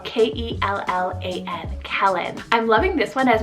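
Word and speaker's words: Kellan: the list here i have kellen spell k-e-l-l-a-n kellen i'm loving this one as more of a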